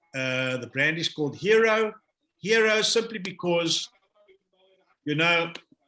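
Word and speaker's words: Hiro: So the brand is called Hero. Hero simply because, you know, out there, people are under pressure. People are under pressure, and that I, remember, hero pronounced, spelled H-I-R-O, that I is you.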